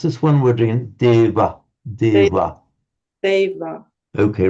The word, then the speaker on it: deva: It's pronounced certainly among the Northern Indians between vowels as something between a V and a W. It's with the lips slightly together. Deva, deva.